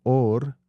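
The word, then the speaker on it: אור: De hecho, la palabra en hebreo para hablar de or, piel, Ujú, se pronuncia igual que hablar de or, luz.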